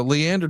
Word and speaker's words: Leander: I'm probably going to mispronounce the town. Does it sound right here, John? Leander Texas. It does. Yes. Yes, it does. So, Leander Texas is going to get the debut of